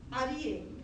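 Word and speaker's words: אריה: O tracinho quer dizer que esse Aleph que não tem som, ele vai ter som de A.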